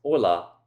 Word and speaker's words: hola: Most of us know that this first word is pronounced "ola", not "hola", because h's in Spanish are silent.